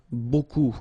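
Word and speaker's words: beaucoup: looks a bit strange Buu like that remember you don't pronounce the final P okay and then you get this combination of vowels uh and you get the sound o so technically it's okay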